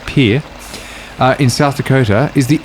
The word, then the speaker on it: Pierre: fact for you here although it looks like Pierre I am well informed by one of the previous things I read that it's actually pronounced Pierre in South Dakota is the only capital city